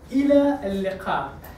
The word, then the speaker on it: إلى اللقاء: إلى اللقاء. Okay. There are letters that are not in English, like qa. إلى اللقاء.